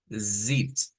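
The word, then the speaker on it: sitzt: Vamos a pronunciarla fácilmente como zit, así, pero vibrante, esa Z, ¿verdad? Decíamos, esta es una S vibrante realmente. Nosotros la vemos como una Z escrita, pero en el sonido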